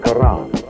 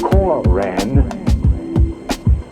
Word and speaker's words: Quran: on or in the Quran. Notice how I pronounce that with the flavor of an Arabic intent. Notice how I pronounce the Koran for the Moorish Science Temple.